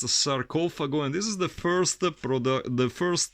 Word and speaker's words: Sarcofago: are at it, let me remind you, it's Sarcofago, that's the right pronunciation, not Sarcofago like many people tend to say. It's a Sarcofago, and this is the first edition on Cogumelo Productions, 1986, white label.